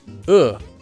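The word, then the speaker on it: ㅡ: This vowel is pronounced uh like the uh sound in the word good.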